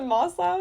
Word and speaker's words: Maslow: Is it Maslow?